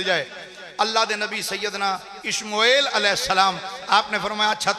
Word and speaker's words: اشموئیل: انہاں دا نام حضرت سیدنا اشموئیل, الف شین میم واو حمزہ یا اور لام, یہ دو تلفظ نہ پڑھے جا سکتے. شموئیل بھی پڑھ دینے, اشموئیل بھی پڑھ دینے, اشموئیل بھی پڑھ دینے.